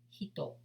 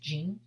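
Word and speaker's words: 人: The last character here, it's pronounced jin, but if it's a character alone, it will be pronounced hito, as we learned, right?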